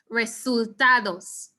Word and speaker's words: resultados: the cursor guys resultados so it sounds like results and it really is saying results in english we have as results and we don't want that to happen as we pronounce the spanish version of this word res resultados okay here's another tricky